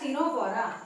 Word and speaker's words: Ctenophora: Which is known as टिनोफोरा। ठीक है, लेना है स्क्रीनशॉट तो ले लीजिए जल्दी। अब बात करते हैं टिनोफोरा। Phylum टिनोफोरा। ठीक है, तो सी साइलेंट होगा यहाँ पे।